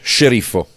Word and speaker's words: Sceriffo: No, it's like sheriff, but with an O. Sceriffo.